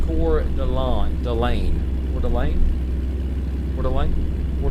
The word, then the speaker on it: Coeur d'Alene: Pronounced Coeur d'Alene.